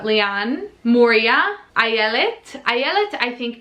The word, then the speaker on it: Lian: Lian, like Leanne, but Lian.